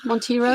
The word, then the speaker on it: Monteiro: Tonight I've got Monteiro. Is that how you say it, Monteiro?